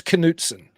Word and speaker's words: Knudsen: so I get the oh you pronounced the K I try to do somewhat I try to do it in between it's cansen Yeahs yeah I should